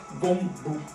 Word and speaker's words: 弓步: Et en mandarin, ça devrait être Gongbu.